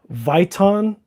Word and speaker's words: Viton: It's I think it's pronounced Viton gaskets or Viton ga- Viton Viton gaskets.